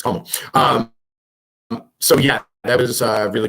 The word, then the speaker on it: Komal: But it's not Komal. It's Komal.